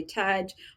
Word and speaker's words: Taj: and just Taj yeah if it's easier just say Taj oh you can associate with Taj Mahal or Taj now some